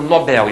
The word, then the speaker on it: Nobel: Nobel né o prêmio Nobel em português essa palavra é oxítona não se diz prêmio Nobel e sem